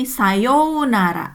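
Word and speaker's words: さようなら: Nah, pada umumnya ya ini sayonara ya, meskipun ditulis U tapi dibacanya O ya, sayonara desu ne, bukan sayonara, bukan sayonara ne, sayonara desu ne. Seperti itu, ada 5 ketukan ya.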